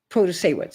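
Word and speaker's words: Protasiewicz: Protasewicz, am I pronouncing that correctly?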